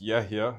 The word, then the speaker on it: Yehia: It's Yehia, and the H isn't really a H. There's a letter in Arabic that's not in English. What am I saying? You're saying Yehia.